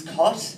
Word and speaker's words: Scott: Look, as I said before, my name is Cott. It's actually S-C-O-T-T, so it's spelled Scott, but I've decided to make the S silent.